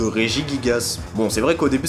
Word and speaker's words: Regigigas: différente et du coup lorsqu'on rassemble ces deux partis ça donne régis gasse déjà je vais pas vous mentir que samaranch choc parce que je l'appris est en plus assez compliqué à prononcer mais bon faut s'y faire c'est officiellement la roseraie de régis gasse bon c'est vrai qu'au